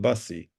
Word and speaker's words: busy: No, because the pronunciation is not busy. The pronunciation is busy, busy. Okay.